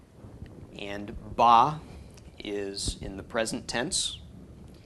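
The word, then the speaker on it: בָּא: a comet's under the bait so this is pronounced bah and bah is in the present tense so you could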